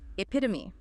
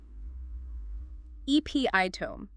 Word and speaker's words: epitome: First up, epitome, epiitome, or apotome. It is E-P-I-T-U-M-E. The E at the end is absolutely not silent.